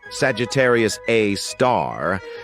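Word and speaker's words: Sagittarius A*: We've got Sagittarius A, which is pronounced Sagittarius A star.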